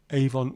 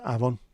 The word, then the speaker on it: Avon: Yeah, Avon, pronounced Avon, is Welsh for river. And of course, Aber means mouth. So Aberavon is the mouth of the river Avon or Avon.